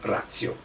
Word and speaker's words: ratio: In questo caso è una parola latina, noi diciamo razio, anche se c'è la T, si legge razio.